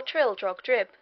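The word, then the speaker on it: Trildrogdrib: tr drag dub or Trill drog drip for it is pronounced both ways as near as I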